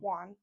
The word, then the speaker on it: Whan: Juan.